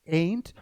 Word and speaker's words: ain't: So the pronunciation is ain't and this is aren't.